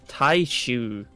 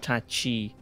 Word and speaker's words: Taishu: Oh, my bad, pronounce his name, it's Taishu. Not Tachi.